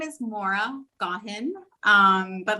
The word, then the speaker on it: Gaughan: just came out the same how do you pronounce it so my name is maura got him um but like i said if you want to pronounce a gauguin that's fine it just goes with wandering parisian